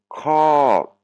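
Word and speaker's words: ขอ: C'est pas un O, c'est pas un son O, c'est un son A. Donc ça se prononce cra, c'est le verbe demander.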